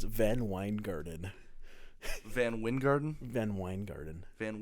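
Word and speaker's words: VanWyngarden: I watched YouTube videos and they all pronounced it Weingarten.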